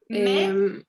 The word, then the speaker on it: mais: Mais. Mes parents sont italiens. Ok, bien. Recuerda no pronunciar la S final.